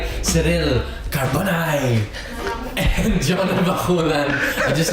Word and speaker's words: Cabornay: My real name is Cyril Cabornay. Cabornay. By the way. Oh my God. Thank you. I still butchered. Sorry. Yung last names talaga yung pinakamahirap parati sa show. It's okay, Gio. I called her Cabernet.